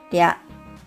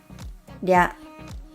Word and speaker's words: りゃ: As you can tell, though it's spelled out with R in Romaji, the Japanese り is different from the English R sound. It's something between R and L. Let's practice. りゃ, りゅ, りょ.